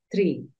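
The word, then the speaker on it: tree: Tú dices tri. Se alarga un poquito el sonido, no se siente mucho, pero sí se alarga el sonido. Dices tri, así se dice árbol. Tri. Entonces, árbol se escribe con doble e, por lo tanto, tú ya sabes que la doble e suena como una i.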